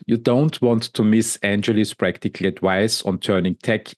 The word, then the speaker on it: Angeli: And I think in Gujarat, in India, you would pronounce it more Angeli.